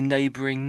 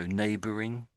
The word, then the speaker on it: neighboring: Do you want to just say neighboring now? So, neighboring. Neighboring. Yeah. Yeah. All I'm hearing I'm hearing as if it's just ends on the letter N. That's all I'm hearing. Like ren neighbor.